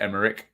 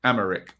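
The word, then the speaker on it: Aymeric: Sorry, not Emmerich. Amaric.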